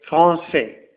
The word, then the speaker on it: français: dire franqu mais la CDI rend la prononciation de la lettre C malgré la lettre A qui vient juste après alors le mot est prononcé français la lettre E la